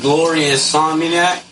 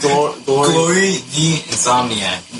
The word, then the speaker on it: Glory the Insomniac: Alright, so little Phil, Glorious Insomniac is how you say it? How do you say it? Glory the Insomniac.